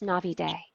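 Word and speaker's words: Navidé: So my last name, it has an accent on the E and it's pronounced Navide. Navide, because I was gonna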